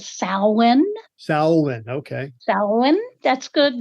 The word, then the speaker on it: Samhain: And we actually pronounce that Samhain.